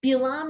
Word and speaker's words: Bilaam: Bilaam is just the Hebrew and Balaam is the English pronunciation, like David and David.